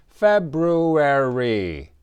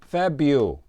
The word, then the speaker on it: February: And please repeat February. But many people just say Febu.